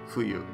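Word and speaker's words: 冬: In this case, if you see this kanji alone, it usually just means winter and is pronounced fuyu.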